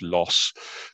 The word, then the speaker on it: Loos: Loos, the Battle of, and I'm not going to correct David on his pronunciation of it, I'm just going to call it Loos as well. Someone else better qualified can say it was Loss, but we'll just call it Loos.